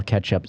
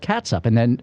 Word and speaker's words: catsup: Yeah, that's just how, because when I grew up, it was called catsup, but I never pronounced it catsup. That's just how it's spelled. And then catch, for me, it's a weird-looking word. So I spell it catsup, but I pronounce it ketchup.